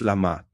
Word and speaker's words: Lamat: Last in this harmony cycle is yellow lamat pronounced lamat.